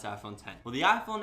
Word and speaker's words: iPhone X: I mean, I say iPhone X, but I mean, I know I'm supposed to pronounce iPhone 10.